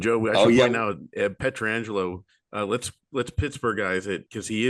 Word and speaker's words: Pietrangelo: So I just love how in Pittsburgh we've called him Frank Pietrangelo, and then all of a sudden Pietrangelo comes along. We're like, wait, hold up, that's spelled the same. Were we wrong this whole time?